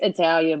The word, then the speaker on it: Italia: it's Italia, but you can call me Italia. I can call you Talia.